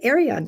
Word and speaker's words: Arion: Arion TV.